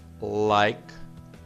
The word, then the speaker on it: likewise: E o Bill responde likewise. Like, o E aqui não é pronunciado, porque é uma soma de duas palavras, likewise, que significa igualmente.